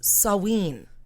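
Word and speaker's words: Samhain: was called salween but it's spelled s-a-m-h-a-i-n but it's pronounced saween sawing so in sawin sawin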